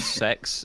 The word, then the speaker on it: CeX: a store over here called sex and it's spelled CeX and they sell secondhand